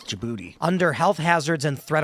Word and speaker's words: Djibouti: Is that how you pronounce it? Djibouti. Yeah, it is. Djibouti.